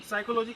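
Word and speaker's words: psychology: अगर हम PHY को साइलेंट नहीं करेंगे तो साइकोलॉजी को हम क्या पढ़ेंगे? साइकोलॉजी हो जाएगा, जो पढ़ने में अच्छा नहीं लग रहा है।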